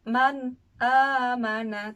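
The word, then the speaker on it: مَنْ آمَنَ: sukun bertemu dengan alif maka cara membacanya dengan dijelaskan cepat tidak boleh lama Man aamana tidak boleh ditahan Man amanah itu skala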